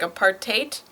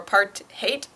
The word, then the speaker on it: apartheid: I'm not sure yeah I tried to figure out what the afon pronunciation was and I listen to a few recordings of afcon speakers and the best I can do it seems like they hit the r a little bit harder but for the the sound at the end it seems like it's kind of in between height and hate like it's like a aite aite something like that clearly I am not